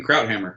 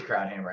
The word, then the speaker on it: Krauthamer: Krauthamer. It is Krauthamer.